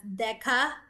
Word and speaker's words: DECA: So um actually you pronounce that as DECA um that is very